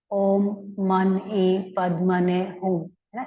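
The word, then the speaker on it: Om Mani Padme Hum: ऐसे उनके मंत्र है चांटिंग है इसको जो प्रोनाउंस किया जाता है ओम इंटरनेट कम है क्या एक मिनट ओके ओम मन पद मने ह इस तरह से उसको कहा जाता है हेल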